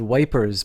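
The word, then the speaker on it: Ypres: the town in Ruins dubbed wipers by British troops due to the difficult pronunciation the Belgian town of yep was a key strategic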